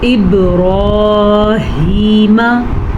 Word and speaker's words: ابراہیم: با پہ کلکلا ہو رہا ہے کیونکہ با سیکنڈ سے پیچھے والے حرف کے نیچے زیر ہے. را کو پر پڑھنا ہے اور ہا کے تلفظ کا بھی دھیان رکھنا ہے.